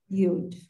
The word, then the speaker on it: Yud: This is the letter Yud. Yud is like Y. However, when it is at the end of a word, it's silent.